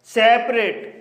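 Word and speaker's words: separate: में एटी ई आया है इसलिए ए का उच्चारण ए होगा इसलिए इसे रेट पढ़ा जाएगा सेपरेट यह एक मल्टीपल सिलेबल वर्ड है क्योंकि इसमें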